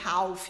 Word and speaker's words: half: Half se escreve com L, half, mas não é Ralph que fala, não. É half.